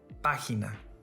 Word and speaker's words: página: Another example, página, this word has 3 syllables. If it followed the rules, the stressed syllable should have been on the next to the last.